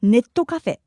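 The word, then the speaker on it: ネットカフェ: Japanese as you've noticed this is simply the Japanese pronunciation of net cafe but we call it Netto Cafe funny isn't it in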